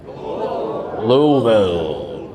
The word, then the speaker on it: Louisville: We had a lot, by the way, it's pronounced what? Louisville.